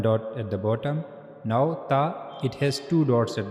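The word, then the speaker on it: ت: Try to connect your tip of the tongue to the upper incor. And then read ta again. Ta. Yeah. So that's how you have to pronounce ta. You can you have to use your tip of the tongue and you have to connect this tip of the tongue to the upper incizers. That's how you can pronounce ta correctly. Okay.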